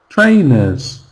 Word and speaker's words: trainers: Trainers. Trainers. Second syllable is just nuz pers. It's very weak sound. And we see it when the word has e r in the spelling.